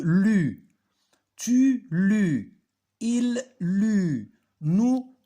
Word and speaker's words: lus: C'est pas je lis ou je lo. Je lus.